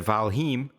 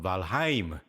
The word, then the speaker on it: Valheim: this game uh valheim not going to lie to you I was mispronouncing that and I actually trained my buddies to mispronounce that uh by mistake every now we all call it valheim which is totally wrong it's called valheim right cuzz it's Nordic and finish and whatnot